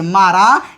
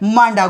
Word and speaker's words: मारा: सिंगरौली के अंतर्गत बड़े ही महत्वपूर्ण गुफा है जिसे जाना जाता है मारा, या भूलवश जिसे लोग कभी कभी प्रोनाउंस कर देते हैं मांडा गुफा।